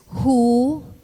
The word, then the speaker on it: who: for in this words the w is silent in their pronunciation let's practice the following